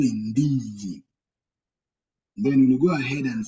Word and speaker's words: ndizi: Like in the word indeed, are you seeing how you pronounce the word indeed in English? Indeed. Indeed. So the letter N, if it comes before, we'll say it nd. It will give the same sound nd, like in the same